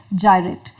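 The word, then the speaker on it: gyrate: तो ये तो खैर एलिट्रेशन नहीं होगा क्योंकि इस वर्ड की प्रोनाउंसिएशन होती है जायरेट। तो ग और ज ये दोनों अलग अलग साउंड्स हैं, तो आप इसको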